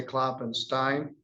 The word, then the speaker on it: Kloppenstein: And I always forget, I say it both ways. You say Kloppenstein? Yeah.